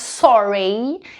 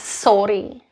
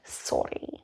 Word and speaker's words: sorry: It's not pronounced sorry, it's pronounced sorry, sorry.